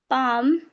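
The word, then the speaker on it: palm: Pock could should would you के मतलब ए और ओ एंड यू ये वोवेल्स आने के बाद हमारे जो जो एल होता है वह साइलेंट हो जाता है।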